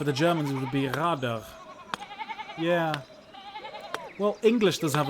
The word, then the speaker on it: Rad: Rad is advice, and rad wheel are pronounced the same.